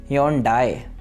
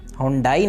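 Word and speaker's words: Hyundai: इसी तरह से एक और हमारे पास ब्रांड है ह्योंडाई। हुंडाई नहीं है ये लफ्ज़ बल्कि ह्योंडाई, ह्योंडाई।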